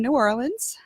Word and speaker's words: New Orleans: I'm from New Orleans. New Orleans is how it's New pronounced.